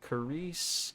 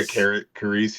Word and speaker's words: Carice: Is it Carice? Carice Van Hooton. Yeah. I was going to say Karice.